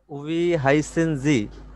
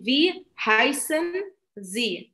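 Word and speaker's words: wie heißen Sie: নাম জিজ্ঞাসা করব তখন উই হাইসেনজি এটা বলবো জি ভি হাইসেন জি ভি জি ভি হাইসেনজি এটা কি উচ্চারণটা কি ভি হবে নাকি উই হবে না না উই হবে না এটার উচ্চারণ ভি হবে হাইসেনজি ওকে হাইসেনজি আপনি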